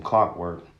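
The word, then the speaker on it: Clockwerk: So what a trick I like to do, and I got this from Clockwork. It's spelled like clock, CLOCK work, but it's WREK.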